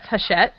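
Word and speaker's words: Hachette: I'm I didn't even actually know how to pronounce haset until the Amazon haset thing became news and I'm like oh that's how you pronounce them because I was just calling them Hatchet like you hit things with but anyway they're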